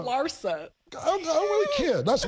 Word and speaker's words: Larsa: So I think a lot of females, Larissa Pimpin and them, don't even, You always say Larissa, but it's okay. It's Lara. Larsa.